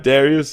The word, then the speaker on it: Dariuš: introduce to the show Darius did I pronounce that right Darius yes man it's a hard name but man